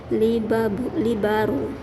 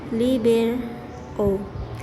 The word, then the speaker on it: libero: the team letter meaning three in italian is pronounced libaro rather than liber o the ncc ncaa introduced the libero in 2002.